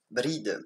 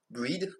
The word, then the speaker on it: Brigid: D'ailleurs, je dis Brigide, mais son nom en réalité, ça se prononce Bride ou Breed, avec l'accent anglais.